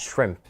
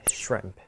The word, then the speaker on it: shrimp: is a pronunciation note we pronounce it shrimp shrimp yeah just one quick sound shrimp shrimp good do you